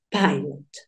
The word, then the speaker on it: pilot: Entonces, tú ya lo tienes todo porque sabes que esta primer parte va a sonar pay. Pie. Listo, ya tenemos la pronunciación de la primer parte. Espérate, lo escribo en verdecito para que sepas que es la primer parte. ¿Listo? Y la segunda, la segunda, la segunda parte termina en consonante. Suena igual. Entonces, tú dices pilot. Pilot sería la pronunciación de esta palabra, ¿verdad?